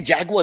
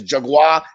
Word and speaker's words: jaguar: hear them say it they don't say jaguar they say something else it sounds very different from jaguars there somewhere but it's jaguar jaguar it's like three syllables like yeah you know